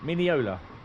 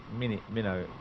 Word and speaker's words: Mineola: one mile to minola Mineola oh I say mini minnow uh it's wrong however I pronounce it